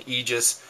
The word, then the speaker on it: Aegis: and by the way some guys goes it egis Aegis uh first off who cares secondly I kind of like the pronunciation egis and that seems to be what SOG wants us to say too according to the website so we'll just go with that so egis there's your